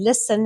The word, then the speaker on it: listen: And listen has got a silent T.